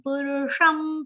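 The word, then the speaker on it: पुरुषम्: Then tameva chadyam purusham prapadye. Purusham, pu and ru both are short sound. Purusham chatkonsha with anuswar, which is pronounced like ma.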